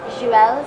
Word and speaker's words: Jules: It's you're good with the U, which is usually what people like trip on. It's Jules. Oh, It's just Jules. You don't pronounce the S. It's like Jules Verne, Jules Verne.